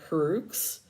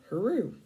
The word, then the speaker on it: Heroux: Like phonetically, my last name is pronounced her, and then Rue, like Rew, like, you know, take away the D from Drew, and you got Rue, Heroux.